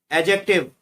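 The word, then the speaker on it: adjective: Fourth में एडजेक्टिव, एडजेक्टिव में D silent रहता है, डी को अंडरलाइन किया गया है।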